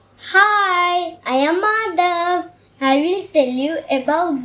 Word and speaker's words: Madhav: M-A-D-H-A-V.